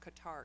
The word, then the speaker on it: Qatar: November, and I was in the country of Qatar, Doha, Qatar, which sometimes in the States is pronounced Qatar, Qatar.